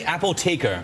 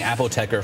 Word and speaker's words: Apotheker: It's actually Apotheker, but I'm sure a lot of people will be saying Apotheker from now on.